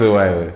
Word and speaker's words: XOYO: It's XOYO. How is that pronounced? XOYO.